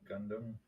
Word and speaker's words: Gundam: Oh, gum. Gundam. Gumla. Gundam. That's it. Yeah. I hear there's different ways to pronounce it.